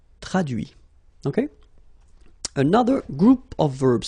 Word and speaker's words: traduit: Okay, so the same rule, because, well, basically it's the same group, and then same rule, final T not pronounced, so introduit, produit, réduit, séduit, traduit.